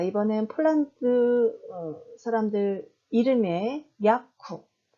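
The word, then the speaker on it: Jakub: 자, 이번엔 폴란드 사람들 이름의 야쿱. 네, 이때도 마지막 자음 무가 브 발음이 아닌 프 발음으로 나는 거죠. 그래서 우리나라 말로는 그냥 받침 비읍으로 발음하셔도 되고 살짝 입술을 떨어뜨리시면 됩니다. 야쿱.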